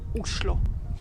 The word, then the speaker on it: Oslo: of Norway and actually in Norwegian the right way to pronounce the name of the capital is uslo Oslo is a great